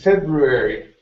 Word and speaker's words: February: r at the end February February February okay you're saying February okay take off that D sound at the end February February okay